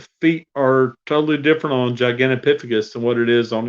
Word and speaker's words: Gigantopithecus: on a human so I have been saying it wrong all the time damn it yeah I think you're right because it's that P sound in the middle instead of the T sound but basically I mean